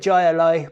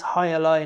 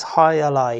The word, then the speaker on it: Jai Alai: so highlight um and i want to call it jayalai but i'm gonna go with what they say in cigar city bruin it is higher lie not joyalay um maybe that's wrong but the video on their web page um with their marketing uh man on there he clearly says hi ally hi ally um so